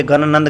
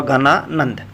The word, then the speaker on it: घनानंद: दिया निकली घनानंद दोस्तों यह ज्ञानानंद गलत लिखा दोस्तों इस का सही उच्चारण होगा घनानंद बढ़ते हैं दोस्तों क्वेश्चन